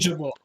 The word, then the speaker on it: fungible: Is it fungible or fungable? fungible. Fungible.